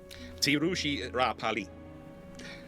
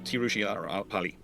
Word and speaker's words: Tiruchirappalli: It's sometimes called Trichy, but technically it's supposed to be pronounced as Tiruchirappalli. Uh Tiruchi Tiruchirappalli.